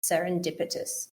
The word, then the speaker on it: serendipitous: we have to think we've got five syllables here serendipitus serendipitous yeah when you find